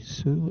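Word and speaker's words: Hsu: Stephanie Sue as Sue is two.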